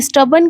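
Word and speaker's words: stubborn: लेकिन हमें याद रखना है कि यहां जो ओ लिखा है ना वो ओ नहीं हम उसे ई मान के चलते हैं।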